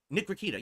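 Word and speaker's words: Nick Rekieta: No, Nick Rakita.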